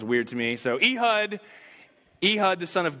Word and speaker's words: Ehud: the Lord raised up for them a deliverer a hood the son of Gera the Benjamin Knight a left-handed man everybody say II hood it's actually pronounced a hood but that sounds like an online ghetto so